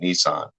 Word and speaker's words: Neeson: Aaron, you can allow them to see the name, but my good friend Neeson, I know I always say it wrong. I'm pretty sure he pronounces it Nissan.